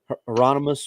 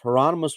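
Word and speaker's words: Heironimus: one you got ger how you pronounce his name not gono but uh heronimus or whatever his name is Bob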